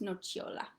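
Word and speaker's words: nocciola: exists in the word nochiola it sounds like cha um so it looks like no siola in english but it's pronounced nochiola and that's hazelnut the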